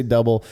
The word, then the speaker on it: Dubbel: he said it is the way we pronounce it is exactly how it's spelled so if you just say double and I believe actually